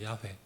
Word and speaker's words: 야훼: 근데 원래 여호와 하나님, 여호와라는 이 이름은 원래의 정확한 발음은 야훼입니다. 야훼.